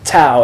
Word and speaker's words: tau: That's tau, as in talk, t.